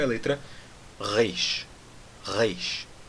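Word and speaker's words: ריש: Agora, a letra Reish tem um som bem complicado. É um som que nós não temos no português. E é um som que, hoje em dia, no hebraico moderno, é o som do R francês.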